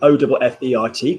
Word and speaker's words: offert: the YouTube that you've just come up with, O-F-F-E-R-T. Could you kindly pronounce that for me, please?